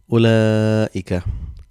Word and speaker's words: أولئك: sign here for mad, but when writing you join hamza and lam. Ulaika, ulaika. So this is how you write and you pronounce.